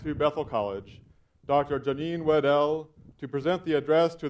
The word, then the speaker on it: Wedel: A point I make partly to clarify that Janine now pronounces her last name Wedel.